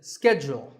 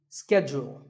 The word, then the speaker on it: schedule: and in the US in American English this is schedule the first syllable is ske and the second is Jewel schedule in British English it can be both schedule or schedule so you can choose the pronunciation that's right for you number 48 is the